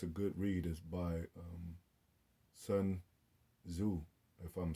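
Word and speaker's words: Sun Tzu: good read is by sun zu if i'm saying it right i think the t is silent um double check on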